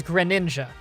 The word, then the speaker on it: Greninja: And this is the one that becomes Greninja.